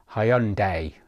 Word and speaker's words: Hyundai: of pronunciation moving forward I will try and pronounce Hyundai correctly like this Hyundai because people keep telling me in the comments